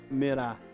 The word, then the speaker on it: câmera: a sílaba mais forte o cam câmera o cam é a sílaba mais forte E aí de acordo